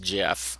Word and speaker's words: GIF: or not the person who invented the jiff file referred to it as a jiff file not a gif file there's a lot of controversy and geek circles about that but it really is pronounced Jeff since the founder pronounced it that way or the inventor of it so that's just an aside